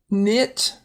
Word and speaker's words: knit: Knit, people can knit sweaters.